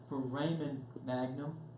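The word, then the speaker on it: foramen magnum: I finally got off my duck and asked Google how to pronounce it. For Raymond Magnum, okay, this hole here, So what happens is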